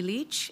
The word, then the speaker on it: Lich: please foreign please State your full name and spell it out Leach l-i-c-h do you swear that the evidence to